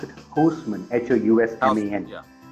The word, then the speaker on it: Housman: I don't know how you pronounce it, Housman, Housman. Yeah, Housman, okay.